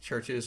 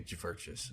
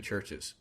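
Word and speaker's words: Chvrches: Do I say it Churches or do I say Jverches? No, it's just pronounced Churches.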